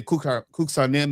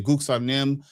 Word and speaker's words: Kuksanim: And anything with K, if you're going to say Kuksanim, it's actually Guksanim.